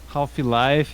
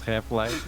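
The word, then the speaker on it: Half-Life: that's really half life happy life it's half life yeah yeah that's half life why did you put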